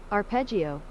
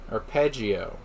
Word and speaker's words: arpeggio: Pronunciation. Arpeggio. Arpeggio.